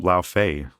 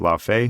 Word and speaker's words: Laufey: Um, La Fay. I believe that's how you say it. La Fay because Fay is the character.